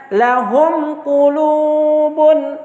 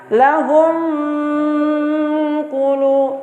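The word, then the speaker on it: لَهُمْ قُلُوبٌ: Jadi cara membacanya lahum qulubun. Jangan membaca lahum qulu, tidak boleh.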